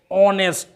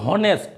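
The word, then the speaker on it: honest: तो ये होता है ऑनेस्ट, यानी ये एच जो है कॉन्सोनेंट है, लेकिन ये जब हिंदी में उच्चारित होता है तो ओ का उच्चारित होता है, ऑनेस्ट, नॉट हॉनेस्ट।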